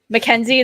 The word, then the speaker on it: Mackenzie: No offense to anybody that spells Mackenzie that way, but mine's Mac Kenzie. MAC, like the Big Mac from McDonald's. Kenzie.